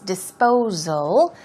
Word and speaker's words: disposal: free now disposal disposal the S is pronounced with a ZZZ sound so it's disposal means to dispensation as